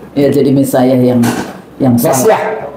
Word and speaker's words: Messiah: Messiah. Mesiah. Iya. Bacanya Mesayah. Bahasisnya Mesayah.